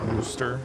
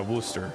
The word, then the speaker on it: Worcester: Worcester is pronounced Worooster. Yeah, Worooster.